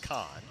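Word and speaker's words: Coln: He spells his name C-O-L-N, pronounced Kahn.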